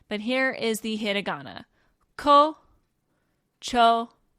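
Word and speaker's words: 胡蝶: to kind of elongate the last o sound. They stick that u there for that reason here. So it is kocho, kocho.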